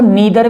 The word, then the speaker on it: neither: कि नादर को देखो नीदर भी बोलते हैं जो बड़े-बड़े विद्वान है वो नीदर बोलते हैं लेकिन मैं नादर बोलता हूं नादर इसलिए बोलता हूं कि एनई आई बोलने से नादर बोलने से मेरा स्पेलिंग बेहतर रहेगा तो आप नीदर बोल सकते हो यह प्रोनंसिएशन का कोई भी इशू नहीं है तो नादर दे नर